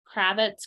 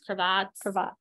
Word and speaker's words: cravat: see what we have I always mispronounce it's Kravitz cravats cravat yeah um is the style